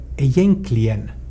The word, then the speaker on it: egentligen: Till exempel ordet egentligen, så i Sverige uttalar de det egentligen.